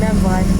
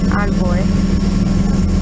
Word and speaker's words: Envoy: sucks about eagle and enve and I I keep saying it wrong on boy is like you have